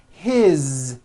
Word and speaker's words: his: you hear that is his same thing it also has a voiced Z ending his mom is Mary